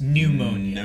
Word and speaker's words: pneumonia: out of ammonium ammonia she has pneumonia pneumonia there's an n in the beginning of the sound yes but what's it